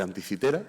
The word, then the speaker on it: Anticitera: Aquí les pongo una pequeña foto de lo que es la isla de Anticitera. Yo voy a usar la pronunciación castellana.